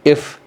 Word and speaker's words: EIF: shared in this book called if thinking. if is spelled E I F.